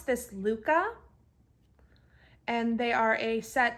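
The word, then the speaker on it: Lykke: of interchangeable needles they are the uh you pronounce this Luca and they are a set of wooden interchangeable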